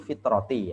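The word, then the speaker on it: فطرة: itu ttin apa makan ya wqu dan kadang-kadang diucapkan aid zakata alfitroti atau zakatul fitroti ya Alfa Wat ta bikasril Fa Wat ta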